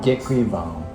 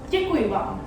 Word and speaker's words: Děkuji vám: How do you pronounce that? Děkuji vám. Děkuji vám.